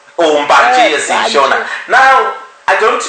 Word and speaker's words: mbanje: bit about the legalization of how do you pronounce it? Marijuana. Marijuana, right? Yes. Just say Dacha or Zulu. Oh, right, okay. Mbanje. Mbanje, yes, Shona.